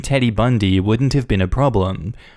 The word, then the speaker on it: Bund: It's not that I mind the name, the issue is that our last name is Bund, pronounced Bundy.